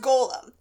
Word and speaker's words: Golem: so actually it's pronounced Golem which is different from Gollum the little creepy dude and Lord of the Rings um this creature is from Jewish mythology it's called a Golem um the Hebrew letters